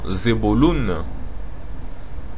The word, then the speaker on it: Zebulun: Zabulon, qui se prononcerait soi-disant Zebulun, on nous dit donc la définition de Zebulun, Zabulon, signifie habitation.